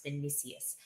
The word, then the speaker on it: Vinicius: So I feel like this was for me, I thought Vinicius, I would say his name wrong. It's Vinicius.